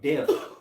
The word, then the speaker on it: debt: He said, I'm the king of debt. Debt. Debt. Debt. Debt. Gotta say debt. Debt. Right. The B is silent.